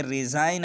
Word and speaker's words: resign: अगर किसी लफ्ज़ में N से पहले G आता है तो G हमेशा साइलेंट हो जाता है। जैसे नेट है, मच्छर को कहते हैं। और आगे चलिए, रिज़ाइन है, RESIGN रिज़ाइन, इस्तीफ़ा देना।